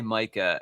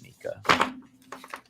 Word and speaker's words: Mika: always want to say micah and i think flynn always wants to say mika as they told us in the chat one day it is pronounced mika like the singer um so anyway um